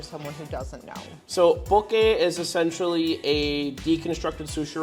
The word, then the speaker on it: Poké: Poké is the correct pronunciation with it.